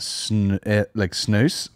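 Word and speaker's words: snus: S-N-U-S, pronounced snooze, as in goose. Yeah. So it must be snooze.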